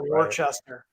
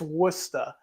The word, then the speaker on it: Worcester: It's almost as bad as saying Worcester. Right. It's not right. That one I still struggle with that one. But. It's Worcester.